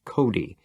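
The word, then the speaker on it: Cote: On the other hand, there was Mrs. Cody, pronounced Cody. She was just about the meanest bitch God had ever set down on the earth.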